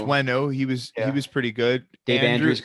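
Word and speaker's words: Onwenu: You got this guy Owenu, but it's pronounced Wenu.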